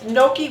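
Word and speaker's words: gnocchi: you say it noi or noi but it's Noki with potatoes and it's like a dumpling and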